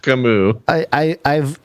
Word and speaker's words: Camus: It's pronounced Camus.